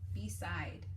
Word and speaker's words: beside: The E is silent, so it makes the I say its name. Beside.